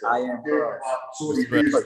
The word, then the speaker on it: IAMCROSX: But I Am Cross is spelled CROSX at the end. So IAMCROSX. I Am Cross.